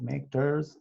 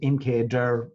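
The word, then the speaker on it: mkdir: so so easy of make ders and then i make der all right that's the way i pronounce them i presume you can pronounce it mk der or nkdir but i'll call it make so incader all right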